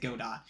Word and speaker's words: Godot: The developers themselves pronounce it Godot.